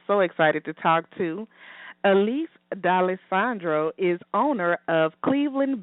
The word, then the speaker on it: Alysse: to the show hi hi now am I pronouncing your name correct yeah Elise and your last name I didn't Slaughter your